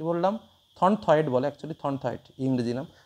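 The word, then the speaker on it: Thornthwaite: কৌকার পয়কার্য আরেকজন হচ্ছে thorn wait কি বললাম থনথয়েড বলে একচুয়ালি থনথয়েড ইংরেজি নাম থনথয়েড ঠিক আছে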